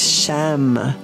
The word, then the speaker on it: Sham: And then there is a one-syllable Sanskrit mantra that is Sham. Try that.